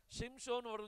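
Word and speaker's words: שמשון: ஸ்திரீ ஒரு பையனைப் பெற்று அவனுக்கு என்ன பெயர் வச்சாங்களாம் ஷிம்சோன் அப்படின்னு சொல்லி பேர் வைக்கணும் நம்ம சிம்சோன் சொல்றோம் அது சிம்சோன் இல்ல அது ஷிம்சோன் ஷ ஷ வரணும் ஷிம்சோன் சொல்லுவோம் இதுல வந்து எத்தனை எழுத்து இருக்கு பாருங்க ஒன்னு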